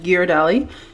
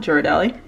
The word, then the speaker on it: Ghirardelli: us hot chocolate from ghirardelli which is how you're supposed to pronounce it not juradely but comment down below